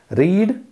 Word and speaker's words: read: difference is the pronunciation read basic form and red is the past form the spelling is same so both these words have same spelling but their pronunciation is different when we are studying